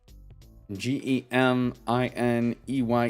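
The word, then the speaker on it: Gemine: Sabal ey or is Mega Gemini g e m i n e ye e gem in eye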